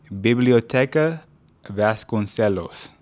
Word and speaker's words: Biblioteca Vasconcelos: To the library, and it's pronounced, I want to make sure I get this right, Biblioteca Vasconcelos.